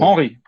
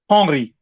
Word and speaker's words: Hanry: Hanry, not Yeah. Henry, but Hanry. Henri.